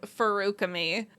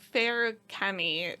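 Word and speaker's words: Feruchemy: s uses oh okay we say it fukami which is I think is yeah quite wrong but it's the only way I could fig figure out how to pronounce it the first time I read it and I just can't make Fair Camy sound right to me but like that's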